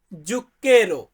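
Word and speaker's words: zucchero: রেখেছি চিনি আমরা চিনি খাই চিনিকে আমরা বলি জুক্কেরো ভাই ওইখানে উচ্চারণে একটু মিস্টেক হয়ে গেছে টাইপিং এর সময়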